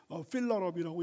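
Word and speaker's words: fill her up: 근데 목적어가 그러니까 탱크를 이제 여성으로 해가지고 필허업인데, 보통 이제 필러업, H 발음은 잘 안 들리고 필러업이라고 얘기를 하면 이제 꽉 채워라.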